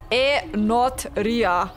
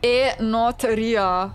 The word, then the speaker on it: Enotria: to help me Chads I will always say it wrong a not Ria what is it now a not Ria a not Ria okay I will try to remember it like this a not Ria but it